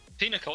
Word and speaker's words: pinochle: Look at the IPA thing. The what? Pinnacle. Yeah, that's what it is. That's what it is through the IPA pronunciation thing on Wikipedia. That's how it is meant to be pronounced.